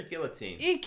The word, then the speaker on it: guillotine: Is it guillotine or guillotine? I think guillotine's is one of those that is pronounced either way.